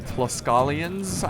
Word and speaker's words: Tlaxcalans: And then let's look at his ally, the Tlaxcalans, I believe is how you pronounce it.